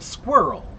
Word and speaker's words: squirrel: It's very difficult for me to pronounce the word squirrel. Squirrel. It's hard for many people, even Americans, right? Slow it down a little bit and get the squirl squir.